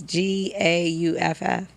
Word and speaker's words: Gauff: Big shout out to Coco Gruff. I don't want to say her name wrong. Coco Gruff? Griffin? No, it's Gauff.